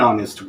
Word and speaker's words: honest: For example, जैसे हमने कहा ऑनेस्ट बॉय, ऑनेस्ट start with H, but we use what? An honest boy, because pronunciation क्या आ रहा? ओ आ रहा ना, honest।